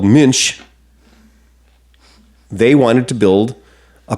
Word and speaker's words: Münch: And when the German motorcycle company called Münch, they wanted to build a performance motorcycle. They wanted to build a motorcycle that had... Hang on. You've said it wrong. Münch.